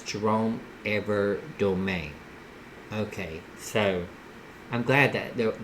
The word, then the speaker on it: Evardome: Okay, so it's kind of like the E is pronounced in A.